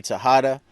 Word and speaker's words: Texada: I know it's spelled with an X, but it's Texada.